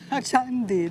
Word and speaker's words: Candi: I know what chandi means. Yes, sweets. No. The kind you eat. No, it means like a big, massive, major temple. A candy temple. Chandi, the right pronunciation is Chandi, Gordon.